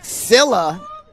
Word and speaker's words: Scylla: I'm actually being told I'm pronouncing the Milwaukee side wrong. Scylla seems to be the correct pronunciation.